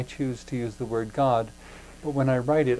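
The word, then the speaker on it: Godde: to use the word god but when i write it i spell it g-o-d-d-e it's pronounced the same way but by going with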